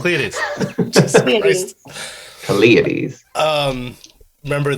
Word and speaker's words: Caelestes: Damn it, that's another pronunciation request of Caelestes. Oh, and you still said it wrong. Caelestes.